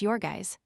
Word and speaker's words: Jurgis: Pronounced Yorgis.